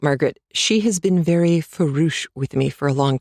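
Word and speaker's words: farouche: The first thing he said was talking about Margaret, "She has been very foo with me for a long time." And it's spelled f a r o u c h e.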